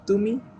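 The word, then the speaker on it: ତୁମେ: Next, তুমি এটাকে দুইভাবে বলে, তুমে এবং তমে। আপনি চাইলে তুমেও বলতে পারেন অথবা চাইলে তমে এভাবেও বলতে পারেন।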